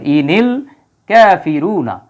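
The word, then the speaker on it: إِنِ الْكَافِرُونَ: বা সুকুন চলে আসবে এই ইনের নিচে জেরটা দেওয়া হয়েছে শুধু উচ্চারণ মিলানোর জন্য আর কোন বিষয় নাই ইনিল এই জায়গায় এটার সাথে এটা সংযুক্ত করার জন্য ইনিল কাফিরুনা নরমালি শব্দটা কিন্তু ছিল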